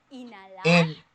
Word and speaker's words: inhalar: Cuando digo inhalar, inhalar. I do not pronounce Inhalar. H.